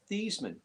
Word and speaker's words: Theismann: No, Joe Theismann's name is actually pronounced Theesmann. He changed it to Heismann to Theismann to rain to rhyme with Heisman.